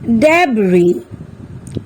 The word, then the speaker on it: debris: let's find out some other words where S is silent আহাচোন আমি এতিয়া Sৰ উচ্চাৰণ কতনো উজ্জ হৈ আছে চাও island debris aisle এই শব্দকেইটাত আমি দেখিলো যে Sৰ উচ্চাৰণ